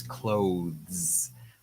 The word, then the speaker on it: clothes: Okay, so we say clo, that's the beginning, and that's very easy, clo, but then we have th, th. So we start off with the TH, that's a voice sound, th, and then we pull our tongue in to say the Z.